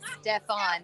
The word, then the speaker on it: Steven: They are pronouncing his name Stefan, though it's spelled like Steven.